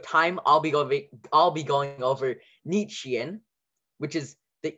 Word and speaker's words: Nietzschean: So for Nietzschean is the I-E, the sh, Nietzsche, T-Z for the ts, like Nietzschean, and then you have the S-C-H for the sh, and the Ian at the ending.